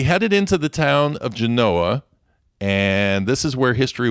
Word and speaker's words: Genoa: And they named it after Genoa, Italy, but in true Nevada tradition, they had to pronounce it a different way. So if you're around a local and you say Genoa, they're going to say, no, it's Genoa, get it right.